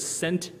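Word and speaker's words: szent: in our display table it says sent biblia which means holy bible and the word sent is spelled s-z-e-n-t so there you go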